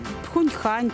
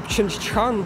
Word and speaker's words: Пхенчхан: Ви можете вимовити столицю, де зараз проходять Олімпійські ігри? Ні, напевно. Пхуньхан чи як? Чи... А так. В Кореї сложне названня Пхенчхан, так-то так. Чинчхан. Чинчхан. Пхенчхан.